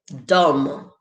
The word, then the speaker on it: dumb: right mark cliff said dumb dumb no b sound there good job mark cliff